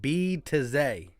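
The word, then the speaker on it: Bitadze: So it's pronounced B to Z.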